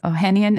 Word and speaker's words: Ohanian: And, you know, and it was in beta at the time, about $300 and 776's Alexis Ohanian. Is that how you pronounce his last name?